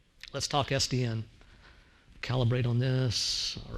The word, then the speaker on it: SDN: supposed to do so sdn is not an acronym otherwise we'd pronounce it sudden it is an initialism so it's sdn okay so the initialism